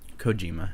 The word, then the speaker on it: Kojima: Like the guy is Kojima, is that how you say it? Kojima, yeah.